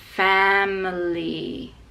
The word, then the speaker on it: family: And then also in family, the m is with the schwa, and the stress is on fa, so it's family.